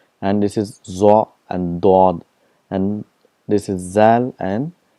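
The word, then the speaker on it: ض: For example, for Zwad, in Urdu it's called Zwad, but in Arabic it's called Dod. There's a lot of difference between Zad and Dod, so we have to practice that.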